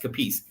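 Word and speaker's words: Capece: kicker bill capis I I think it's spelled I mean pronounced capis Florida State guy he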